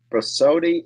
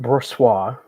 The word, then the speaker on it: Brossoit: Brossotti, how do you say it, Eric? Is he hurt? How long is he out for? Well, it's Laurent Brossoit, first of all.